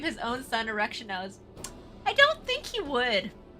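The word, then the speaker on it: Erichthonios: me and clip me saying, "Oh, I love Erectionos." I don't think they'll notice anything odd about pronouncing someone's name correctly.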